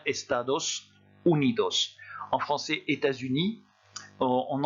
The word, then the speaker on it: estados unidos: rouge le s final pour vous rappeler qu'on doit prononcer ce s à la fin des moroni bien estados unidos en français états unis